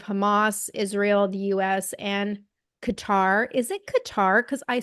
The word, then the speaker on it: Qatar: Israel the US and Qatar is it Qatar because I swear a reporter called it kater no it's qar and I always pronounce things wrong but I thought it was Qatar um but they've all